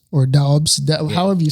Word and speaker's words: Doubs: We got Romeo Doubs or Dobbs however you say his name. Doubs.